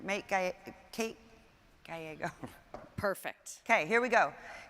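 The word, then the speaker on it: Gallego: how do we ever I've heard your name pronounced it's gyo Mayor Kate works I'm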